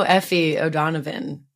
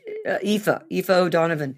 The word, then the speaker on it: Aoife O'Donovan: And I don't know Effie O'Donovan. Is that how you say her name? It's Aoife O'Donovan. Aoife.